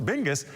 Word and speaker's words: BNGIS: Geographic information service center known as bngis pronounced bingus have been busy working